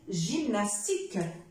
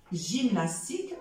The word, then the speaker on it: gymnastique: et le mot aussi gymnastique gymnastique voilà pour ne pas négliger cette exception alors gymnastique d'accord gymnastique j'ai y ça donne aussi le son je reviens à ma place